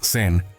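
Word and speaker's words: Zen: Incluso el término Sen es simplemente la pronunciación japonesa del carácter chino Chan Shan.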